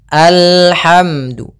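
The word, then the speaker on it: الحمد: Di sini bukan al, tapi dia alhamdu.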